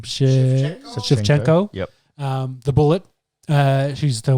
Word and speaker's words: Shevchenko: Shevchenko.